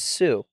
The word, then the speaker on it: Xu: one of their sons their last name is Sue guess how you spell it s u s u XU XU XU